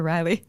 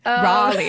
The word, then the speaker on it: Raleigh: Now, who is Sir Walter Riley? Raleigh. Even I can't do it there.